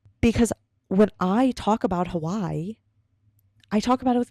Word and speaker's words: Hawaii: My dad is Hawaiian, so when I pronounce Hawaii, I pronounce it Hawaii, which is how he pronounces it.